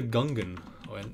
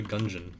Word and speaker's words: Gungeon: some end to the Gungan yeah or enter the gungeon depending on how you want to pronounce it I mean it is supposed to be a gun dungeon so I don't know